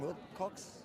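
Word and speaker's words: Witkoff: I guess last night it did sound like there was large booze when US envoy Steve Wilcox, how do you pronounce his last name? Will Cox It was cutting again.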